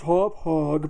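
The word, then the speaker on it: Hauppauge: here little hoppage card hoppage whatever people say it's pronounced hop hog but I think that sounds stupid so we'll pronounce it you know like the way the English language works anyway that's coming out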